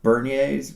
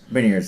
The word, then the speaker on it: Beniers: I do like Bernier's, right? Bernier's, am I saying it correctly? I want to screw his name up. Beniers.